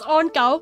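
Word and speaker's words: on9: You might be reading this as on 9, and that is how you abbreviate it on the internet. But how you pronounce it is on gao.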